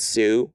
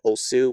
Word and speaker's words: Otsu: They would just read it as Sue rather than like, you know, Osu, which is actually how it's pronounced, but it's written differently.